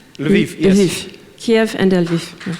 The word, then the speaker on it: Lviv: Actually in Kiev and, I'm going to pronounce it wrong, Lviv? Lviv, yes.